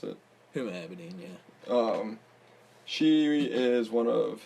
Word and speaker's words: Huma Abedin: Anthony Weiner's ex-wife is a Huma Abedin. I think is how you pronounce it. Huma Abedin, yeah.